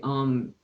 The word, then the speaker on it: Om: And it's pronounced with ah, oo, and the is pronounced with the tongue just behind the roof of the top teeth, that little fleshy part there.